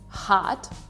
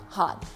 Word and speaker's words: hot: So the O in the word is pronounced as ah, shot, hot. Something that you have to learn, if you want to sound more British, is hot, shot. So you actually pronounce those O as O's.